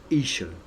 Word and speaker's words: Isho: Pronounced Isho. Okay, his name Joshua is pronounced Isho, because usually it's YSHO in the Assyrian.